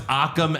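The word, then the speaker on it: Akam: their names couple times used to be aim and razar now it's aam and razar yeah that's hilarious and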